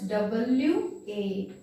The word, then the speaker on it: one: Because when we pronouncing 1, the sound comes W-A. W-A comes. Wa.